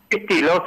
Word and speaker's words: Pistillo: Pistillo, sí. Es un apellido italiano.